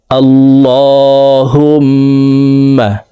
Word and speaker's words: আল্লাহ: আল্লাহুম্মা, আল্লাহ, এই লামকে ল বলে পড়তে হবে, কারণ আল্লাহ শব্দের আগের হরফে জবর অথবা পেশ হইলে এই লামকে ল অর্থাৎ মোটা করিয়া পড়িতে হয়।